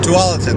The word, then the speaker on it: Taulitin: Taulitin, that's how you say it.